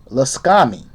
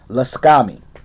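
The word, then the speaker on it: Lakshmi: guys can look that up okay uh it's pronounced la scami yeah that's how it's pronounced laskami now when this card appears you are being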